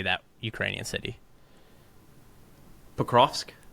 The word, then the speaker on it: Pokrovsk: Pokrovsk? Pokrovsk.